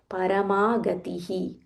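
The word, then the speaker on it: परमगतिः: Muktanam, Paramagatihi, Paramagatihi. There is a visarga, before that there is ti.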